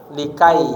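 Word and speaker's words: لكي: Kemudian lamukai. Likai bacanya likai.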